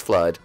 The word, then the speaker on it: FLUDD: yes and is it it's flood oh yeah I don't know why I spell it flu then it is flood all right whatever welcome